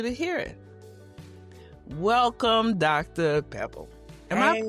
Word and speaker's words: Pepple: Pebble. Am I pronouncing your name right? Yes, ma'am. It's Pepple like Apple.